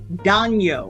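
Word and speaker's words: daño: when when there's the weather pattern called El Nino it's the Nino so it's danyo I believe Daniel is harm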